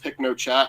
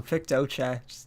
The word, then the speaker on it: PictoChat: want to talk about pick no chat and you keep saying it wrong Pictochat just one letter Alif dude I'm gonna